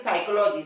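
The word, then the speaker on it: psychology: आप लोग जानते हैं साइकोलॉजी साइकोलॉजी की स्पेलिंग भी चालू होती पी से लेकिन इसका प्रनंसीएशन होता है स्टार्ट एस से क्योंकि जब भी फ के पहले आता है तो वो साइलेंट होता है है ना दें अफीम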